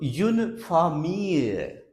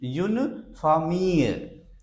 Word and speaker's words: famille: Another word, F-A-M-I-L-L-E. Here again, pronunciation of double L is not L, it is Y. So, une famille, a family. une famille.